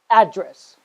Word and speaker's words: address: thing no that's wrong the place where you live is a noun so you stress on the first syllable that's why you say it address but there is a